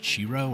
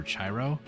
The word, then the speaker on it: Chiro: go from Toro to I think it's pronounced chiro or chiro c-h-i-r-o that's why it says gyros gyros almost like chiro because it's pretty close to churro and I like churros